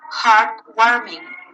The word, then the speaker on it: heartwarming: Number 2, you have heartwarming, heartwarming, uplifting, uplifting, heartwarming, heartbreaking. So the stress is in the first syllable.